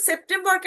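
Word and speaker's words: September: আও এবং বুস্ট এর সেপ্টেম্বরকে আমরা বলব দুইভাবে উচ্চারণটা শুনবেন সেপ্টেমবা সেপ্টেমবা ঠিক আছে সেপ্টেমবা শুরুতে এস আছে বর্গীয় জার মত উচ্চারণ হবে সেপ্টেমবাসের পর ভাল থাকার কারণে বর্গীয় জর মত উচ্চারণ হচ্ছে নাকি?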